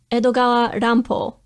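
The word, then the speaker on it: Edogawa Rampo: is better known by his pen name edogala rampo fashioned after the japanese pronunciation of edgar allan poe edgar aran po and his stories also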